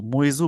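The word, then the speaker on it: Muizzu: president Mohammad मजू मतलब कह सकते हैं मजू मजू बोलेंगे इनको made his first bottle visit to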